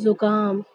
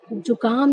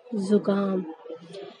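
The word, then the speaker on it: ज़ुकाम: अब कुछ लोग तो इसे बोलते हैं जुकाम हो गया, लेकिन ये गलत होता है इसका उच्चारण। तो इसको बोलने का सही तरीका क्या होगा, जुकाम। इसको हम जुकाम नहीं पढ़ सकते, ना ही इसे जुकाम पढ़ा जाता है। सही उच्चारण इसका क्या होता है, जुकाम।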